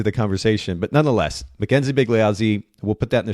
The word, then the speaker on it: Bigliazzi: NZ IE that's pretty straightforward underscore and then big lioi which is b i g l i a